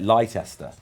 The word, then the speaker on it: Leicester: live in Leicester but if anyone like ever reads it it's like lester um which is what I now call it.